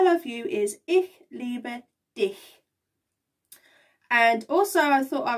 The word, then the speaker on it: dich: put this in and you have to make sure you say the last word how it is pronounced because it will sound like something else which you do not